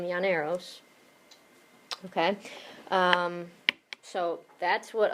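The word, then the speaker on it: llaneros: Two L's together make the Y sound in Spanish. The Yaneros, which are Venezuelan cowboys,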